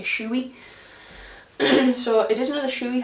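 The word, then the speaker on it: Shoei: the colors it is another shy or shouey however you pronounce it I don't know I say shoy so it is another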